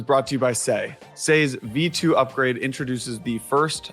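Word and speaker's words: Sei: this episode is brought to you by SE say's V2 upgrade introduces the first high performance parallelized evm already live on public devet maet comes later in Q2 you can follow along with the say Journey on X say Network say is spelled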